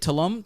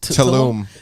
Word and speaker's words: Tulum: Tulum? Tulum.